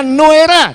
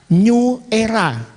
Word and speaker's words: Nuera: kita sendiri NU era ingat bacanya NU era jangan salah New Era itu sendal apalagi NU era Muhammadiyah protes ingat ya ingat ya NU Era bukan New Era apalagi NU era karena